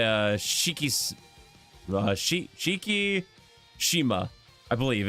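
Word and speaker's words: Shikishima: say uh Shiki sh Shiki Shima I believe it's Shiki Shima I believe it's how it's pronounced because the eyes are usually pronounced as ease in Japan usually yeah yeah I've tried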